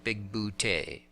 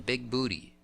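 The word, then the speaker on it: Bigbooté: an alien named John big bootay a comic gag that plays over and over is that everyone calls him big booty and he's always trying to correct their pronunciation there's a casting carry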